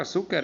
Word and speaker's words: azúcar: por ejemplo azúcar azúcar la palabra azúcar es una grave porque tiene el acento en su entonces escriben en esa